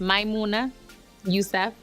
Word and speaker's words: Maimouna Youssef: be pretty busy so my name is pronounced my Munna Yusef my mom gave me